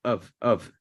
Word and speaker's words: of: Se lee como que fuera una V, of. Pero cuando está seguida de consonante, generalmente se bota. Se pierde.